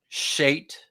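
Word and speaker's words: שֵׁת: in Genesis chter 4: 25 uh the name shate as it's pronounced in Hebrew is connected to the verb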